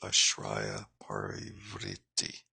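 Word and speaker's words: Āśraya-parāvṛtti: this tongue twister here, which is pronounced Ashraya Parivriti. So S with a little uh, uh, whatever you call that mark above it is SH Ashraya Parivriti. The R with a dot is pronounced like R-I Vritti, or Ashraya Para Vritti with a long A.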